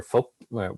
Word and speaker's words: Phuc: with my family, like you will never hear the word Phuc ever. Like you'll always hear Phuc, which is like how you say it in Vietnamese.